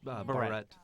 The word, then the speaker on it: barrette: That's the beret, awesome. yeah. Little Yep. You're barrette. Barrett, thank you. Barrette. Barrett, yeah. It's not pronounced like the hat.